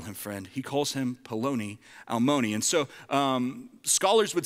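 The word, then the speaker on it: פְּלוֹנִי אַלְמוֹנִי: In Hebrew, it's pronounced Peloni Almoni, okay? Peloni Almoni, which, does anybody happen to know what that means?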